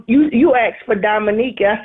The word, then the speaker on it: Dominique: No, I said, you asked for Dominique. I said, I'm her mom. Well, that's just confusing. Also, I pronounced her name Diamond Eek. Because I thought that's how it was.